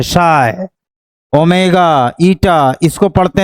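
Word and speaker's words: psi: इसको पढ़ते हैं शाई, PSHI, P साइलेंट रहता है, शाई, ओमेगा, ईटा, इसको पढ़ते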